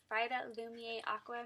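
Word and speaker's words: Vitalumière Aqua: also picked up the compact formula of the Vitalumiere Aqua. Vitalumiere Aqua.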